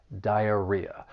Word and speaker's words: diarrhea: For pronunciation, the word has four syllables. The stress is on that third syllable, diarrhea.